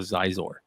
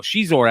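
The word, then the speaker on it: Xizor: I think Marco still calls Shizor Zizor, and every time I have to go Shizor, asshole, Shizor.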